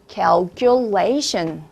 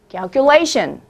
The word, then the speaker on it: calculation: 계산이나 추정, 추산이라고 얘기를 하고 싶으면 calculation. calculation. 이렇게 스트레스가 뒤로 간다는 것도 알아놓으시면 좋겠죠?